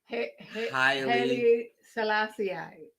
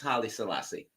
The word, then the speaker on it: Haile Selassie: the spirit of our the Jamaican culture and Haile Selassie. You can't even say that right. Because I'm in the Wu-Tang Clan. Haile Selassie. Halle Berry. Haile Selassie. Selassie. Something like that. No, it's Haile Selassie.